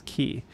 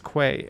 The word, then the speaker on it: quay: know q u a y is key but i always read it as quay and i almost always say it as quay and i have to like do that last second correction just to say it right every single time it is so